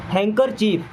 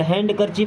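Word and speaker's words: handkerchief: हैंकरचीफ, अब यहाँ पे डी हो जाता है साइलेंट, हैंडकरचीफ नहीं होगा, हैंकरचीफ।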